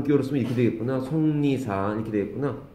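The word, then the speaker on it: 속리산: 우리말도 발음 기호가 필요한 경우가 있습니다. 송리산. 뭐? 안 들려. 화이트 어디 있을 거 여기 있다. 송리산이라고 발음하죠, 그렇죠? 송리산.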